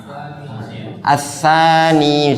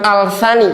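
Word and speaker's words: الثاني: apa yang anani yaani assani misalnya ya. Nah, ini gini Pak Assani Pak ya Pak Warno. Ini bacanya bukan alsani. Enggak. Ini aturan ya. Aturan karena apa? Ts huruf sa ini masuk yang syamsiah.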